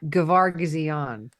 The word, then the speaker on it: Gevargizian: We're here with the director of The Stylist, Jill Gevargizian. Did I say it right? Very, very close. Gevargizian.